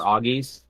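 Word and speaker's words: Oggi's: here in the area called uh OG's nice or auggies and it's spelled OG g g i s and uh it's it's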